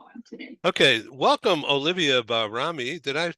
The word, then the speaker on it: Bahrami: Okay, welcome Olivia Bahrami. Did I pronounce that right?